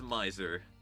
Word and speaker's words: Miser: Is it Mazer? I don't know. I don't know how to pronounce that word. Hold on, let me just do this. Miser? Is it actually just Miser? It is Miser.